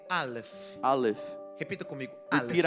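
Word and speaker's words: אלף: Aleph. Repita comigo, Repeat Aleph. after me, Aleph. Não, tem que ter esse soprinho. You gotta blow the letter, Aleph. Aleph.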